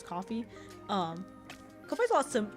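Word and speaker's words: Ko-fi: I pronounced Kofi, but I think it's pronounced as coffee.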